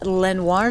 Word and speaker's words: Lenoir City: This story is from Joey and Janet in Lenoir City. Am I saying that right? Lenoir City, Tennessee. Looks like Lenoir. Lenoir? Lenoir. Lenoir. I'm saying and pronouncing it the French way.